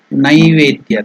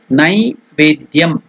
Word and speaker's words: Naivedya: So, what is the meaning of the Sanskrit word Naivedya? The pronunciation is Naivedya. Some people tell it Naivedya. It is not Ne. It is Nai, N-A-I, Nai. Naivedyam, Naivedyam.